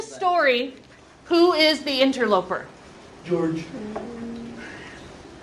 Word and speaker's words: Georg: George. George, or Georg. That's how you pronounce the name when it's spelled that way.